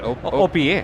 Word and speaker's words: OPEA: OPEA.